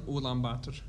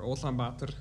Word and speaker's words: Ulaanbaatar: Well, right now, I'm actually living in Ulaanbaatar, or Ulaanbaatar, depends on how you want to pronounce it.